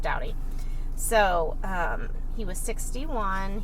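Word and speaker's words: Staudte: kind of a strange spelling um but it's pronounced dowdy so um he was 61.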